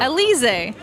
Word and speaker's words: Alize: Alize.